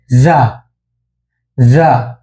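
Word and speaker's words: じゅ: জির উচ্চারণ, এটা উচ্চারণ জিয়া হবে না, এটা উচ্চারণ হবে জা জা। এটা উচ্চারণ হবে জু জু।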